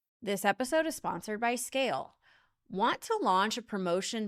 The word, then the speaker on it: SCAYLE: So visit Scale today. That's SCAYLE. Yes, the Y is silent because you never have to ask why Scale isn't performing.